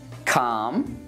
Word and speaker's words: calm: Well, we don't pronounce it in chalk, talk, walk, calm, and palm.